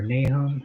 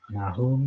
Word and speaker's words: Nahum: So Nahum 1, or Nahum, however you pronounce that. I say Nahum now. I used to say Nahum, but that's the American way. I'm going to say it the Hebrew way.